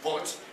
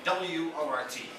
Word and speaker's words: wort: The fluid is being called wort, which is the very Dutch pronunciation of it, but it's what I speak. But in English, you're spelling it in the same way. W-O-R-T, wort.